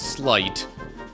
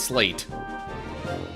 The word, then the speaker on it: sleight: And yes, we seem to have established that that's how it's pronounced, is slight, not slate.